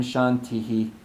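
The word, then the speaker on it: शान्तिः: How do you pronounce Shanti? Shantihi. Shantihi. Slight.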